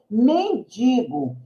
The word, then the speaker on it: mendigo: eu não falo nem digo o correto é mendigo travesseiro eu posso até falar não linguagem coloque